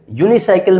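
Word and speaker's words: unicycle: यूनिसाइकल में यू हमारा वोवेल है लेकिन साउंड कंसोनेंट की है इसलिए हमने यूज़ किया है ए।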